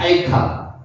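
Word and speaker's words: אַיֶּכָּה: 주님은 사라에게 아예카라고 읽으시는데 아예카를 읽으시면 됩니다. 아예카.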